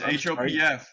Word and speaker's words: Hopf: you some negative feedback my my last name's pronounced ho H like it's hopf yeah ho and it it's it's one of